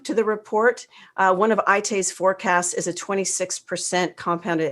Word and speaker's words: Aite: It's by ITE Group. If you want to look them up, it's spelled AITE, ITE Group.